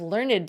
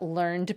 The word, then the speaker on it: learned: If you're talking about higher education, you can have learned scholars and learned societies. But if you're talking about psychology, you might be talking about learned behaviors.